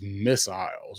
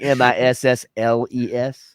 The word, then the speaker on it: missile: We say it's a missile. No, of course. And we had so much fun at the pronunciation of it as missiles because I didn't even realize there was another I in missile. Yeah, right. Yeah, Like, MISSLES. Yeah, we don't pronounce that way down here.